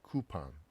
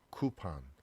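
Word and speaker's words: coupon: 자, 그 다음에 우리가 쿠폰 그러는데, 자, 영어의 오 발음은 이게 아로 발음될 때가 되게 많아요. 지금도 발음교 보니까, 자, 쿠판, 쿠판. 이게 아 발음이 나죠.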